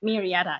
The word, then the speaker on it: Murrieta: Now, Yiyi Ku is a professional pianist, and she runs a very successful Yiyi music studio in Murrieta, I think it's pronounced. Murrieta, yes, in California.